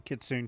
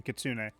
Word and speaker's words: kitsune: I think both ways are technically correct for pronouncing kitsune, kitsune. I think both are acceptable, but the only real